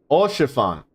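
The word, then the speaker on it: Haurchefant: Lord Orchiffon. Orchiffon. That's how you pronounce it.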